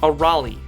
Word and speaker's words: Arale: it's on her clothes but is pronounced a rally for arale's friends akane